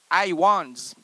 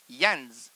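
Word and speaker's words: Hyans: Ah, première phrase, c'est tout a commencé par 2 ou 3 réunions chez Joe Iwans. Joe Iwans. Joe Ians. Ians, écoutez, ça s'écrit H-Y-A-N-S. Yans. Joe Yans.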